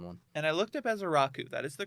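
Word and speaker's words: Ezeiruaku: And I looked up Azaraku. That is the correct pronunciation. Ezaraku. It's not as Iaku is what I was saying first because I was just going. Yeah. But that is Azaraku.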